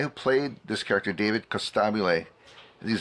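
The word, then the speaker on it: Costabile: and the guy who played this character David Costab is how you say his name he I've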